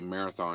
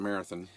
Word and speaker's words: Marathon: sommes passés par Marathon, j'ai dit Marathon hier, mais apparemment, c'est prononcé marathin et si nous aimions